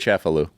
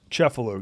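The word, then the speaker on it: Cefalù: pronounce it? Cefalu. Cefalu, yeah.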